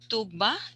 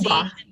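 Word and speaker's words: Tuğba: Shall I call you Tugba? Is my pronunciation? Tuba. Sorry. Tuba.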